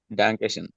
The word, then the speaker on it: Dankeschön: আচ্ছা মাহফুজ ভাইয়া ট্রাই করে নাই, আপু এরপর আপু এটা কি ডাঙ্কে শুন নাকি ডাঙ্কে শুন, তো প্লিজ বলবেন। দানকে দ দ দা, ড Dankeschön. হ্যাঁ Da. Dankeschön.